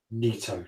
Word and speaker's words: Nito: the sword for the gravelord nito pronounced neato yes I said it